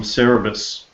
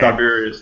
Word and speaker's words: Siberius: mindless natives are from cerebus H siberius yeah cyberus that's it learn to pronounce things buddy I will processing